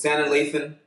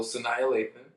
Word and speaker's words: Sanaa Lathan: Shannon Lathan. Love you. Love Shannon Lathan. Yeah, that's my list. So Sanaa Lathan.